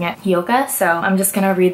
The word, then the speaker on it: Hyouka: I just watched Hyouka. I think that's how you pronounce it. For a long time I was pronouncing it Hyouka, but then when I